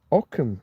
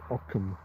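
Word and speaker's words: Ockham: Okam and his razor. Aam's razor. It's not spelled like that, is it?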